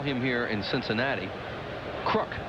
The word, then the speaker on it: Kruk: Or as they call him here in Cincinnati, Crook. That is the way John's family does pronounce his name, is Crook, and John Browdy, the PA announcer here, calls him Crook.